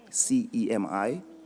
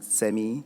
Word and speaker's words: CEMI: So my organization that I work for is called CEMI, C-E-M-I. Some pronounce it CEMI, some pronounce it CEMI, depending on how you want to pronounce it, it's fine with me.